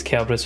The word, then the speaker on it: Kerberos: No one says Kerberos with a K sound and it's actually the right way.